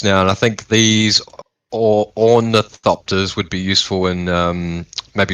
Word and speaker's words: ornithopter: How do I even pronounce this? Ornithopter? Ornithopter.